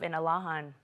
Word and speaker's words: Inalahan: Senator Telo Taitigui to officially change the name of Inarajan to its Chamorro pronunciation of Inalahan.